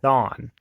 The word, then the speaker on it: Thawne: I'm very sorry but to me it just sounds wrong to say like I'm mispronouncing a name when I'm not it's actually pronounced that Thon anyways that thumb debuted